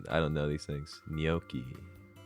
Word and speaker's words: gnocchi: Nachi? No, Nochi? Wait, isn't it like Nochi? Like no? I need to watch more cooking shows, man. Gnocchi. Oh, that actually sounds right.